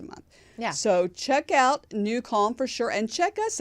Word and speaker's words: NuCalm: bushy-tailed, as they say, is because we use New Calm, which is an amazing app. It's spelled NUCALM.